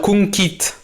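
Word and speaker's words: cunquist: Alors, conquit. Faut préciser que le U se prononce OU.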